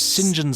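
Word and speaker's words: St John: to kill james uh said john smythe uh which is pronounced james sinjan smythe yes of course mr sinjan smythe um sinjin smythe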